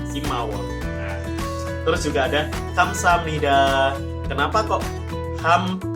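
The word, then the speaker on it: 감사합니다: Nah, terus juga ada kamsahamnida. Kenapa kok ham bacanya? Padahal itu hiet a biep, kok bukan kamsahamnida? Ada biep bertemu nian, biep bertemu nian dibaca miem, masuk nasalization, persengawaan.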